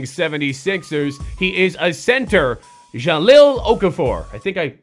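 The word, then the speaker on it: Jahlil Okafor: and that's somebody is going to be Mr Jalil okaf for 75 overall from the struggling 76ers he is a center Jalil Okafor I think I said it right that time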